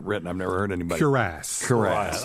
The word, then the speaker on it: cuirass: Cuirass. I'm thinking Cuirass. Like caress. Like a Cuirass. Caress.